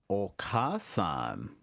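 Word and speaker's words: お母さん: for mother looks like okasan yeah and notice that there's a long ah in the middle of that word so it's okay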